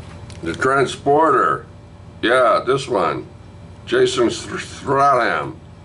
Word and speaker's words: Statham: Jason Statham. Stratham. I can never pronounce his name right. Sorry, Ian. I can't do it. I tried for years. Stratham? Statham.